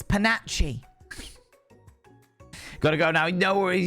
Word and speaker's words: panache: It's not panache. It takes panache.